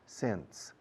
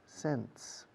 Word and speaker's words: sense: Sense. Suena igual que céntimos. Sense. Okay. 3 words that sound exactly the same.